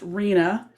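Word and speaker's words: RHNA: housing needs assessment or allocation pronounced arena which involves three levels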